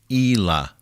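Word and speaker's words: Ila: yeah with the eyelashes the name is i l a I would I would pronounce it as Ela she's your gatekeeper but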